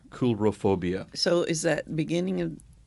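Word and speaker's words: coulrophobia: spell that uh c-o-u-l-r-o-p-h-o-b-i-a coolerophobia c-o-u-l-r-o it's it's it sounds like coal but it's pronounced cool coolrophobia so is that beginning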